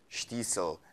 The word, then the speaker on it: Shtisel: by the way if you did watch it's pronounced as you just said it diesel and not so which everyone